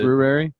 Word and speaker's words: February: February. Yeah. It's got that R in there.